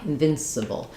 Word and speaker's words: invincible: And in invincible, we have the added n sound, and then letter C says the s sound.